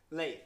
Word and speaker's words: Leith: Leith, yes. Leith. So there, yeah, no. So the although it is spelled the same as the city of Leith, it is pronounced Leith.